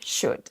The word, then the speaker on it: should: Tous les mots-là ont un L silencieux. Dites donc walk, talk, would, could et should.